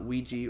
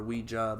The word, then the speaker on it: Ouija: I mean, people pronounce it Ouija or Ouija, but it's oui ja for a French yes and German yes.